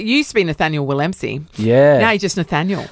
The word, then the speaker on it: Willemse: It's actually pronounced Willemsey. Willemsey. Willemsey. That's why. Silent V. It's a Dutch surname.